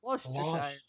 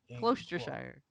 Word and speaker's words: Gloucestershire: Gloucestershire. Worcestershire. Gloucestershire. It's like Worcestershire sauce.